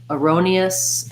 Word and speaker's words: erroneous: So in erroneous, again, we have second syllable stress. Erroneous. So thinking about that like the word row. And then here we have an I sound. Erroneous. Erroneous. It would look like this. Erroneous in the dictionary.